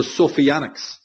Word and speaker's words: Sophianics: are positive, and the Sophianics. Just chose that word because it's easy to understand, it rhymes with satanic.